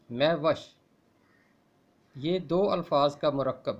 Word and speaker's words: مہوش: آپ کی سلامتی ہو۔ میوش فارسی زبان کا لفظ ہے اور اس کا درست تلفظ ہے میوش۔ یہ دو الفاظ کا